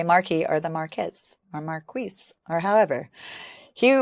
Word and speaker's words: Marquess: The main character of the story is Harry Beresford, the third Marquess of Waterford. Marquis. That's not how it pronounces on the thing.